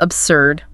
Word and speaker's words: absurd: Number three is absurd.